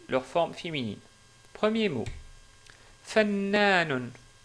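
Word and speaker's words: فنان: Fannanun. Ou, si on s'arrête sur le mot, on dit fannan.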